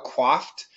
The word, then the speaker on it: coiffed: This is also a French word, coiffe. We use it in American style, coiffed. I no longer defer to the coiffed.